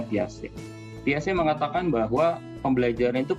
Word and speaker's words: Piaget: dengan semuanya teori plastik tulisannya Piaget gitu tapi kita bacanya piace piace mengatakan bahwa pembelajaran